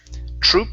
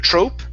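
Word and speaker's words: troupe: acting troop right here troop instead of Trope troop TR okay okay that's right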